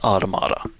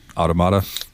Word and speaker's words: Automata: at one point the game officially calls it automata automata so uh if you want to go by